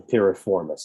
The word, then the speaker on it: piriformis: Okay, it's the piriformis. It's a little bit of a typo here. Piriformis is spelled Piriformis.